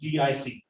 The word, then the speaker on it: DIC: It is actually pronounced DIC. DIC, because people who are professionals call it death is coming.